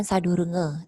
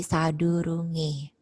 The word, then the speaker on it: sadurunge: marupe jadi merupe sadurungnya e-nya ada apostrf di atas ada coret di atas jadi dia dibaca e bukan sadurung nge tapi sadurunge acara ya acara ditulisnya